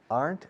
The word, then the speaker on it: aren't: The Rocky Mountains aren't as high. Aren't. Contracción de are not. Aren't. Una sola sílaba, por cierto.